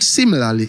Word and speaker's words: similarly: The word similarly is stressed on the first syllable.